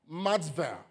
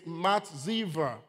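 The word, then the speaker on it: מצבה: The word pillar in the Hebrew, it's pronounced or it is called matzivah.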